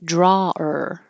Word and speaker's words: drawer: just be or but it can also be a person who likes to draw and then it would be drawer so you're pronouncing draw and